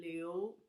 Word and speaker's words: 硫: uh our languages theme for today's show is sulfur the 16th element in the periodical chart and it's pronounced as the leo in chinese therefore i use another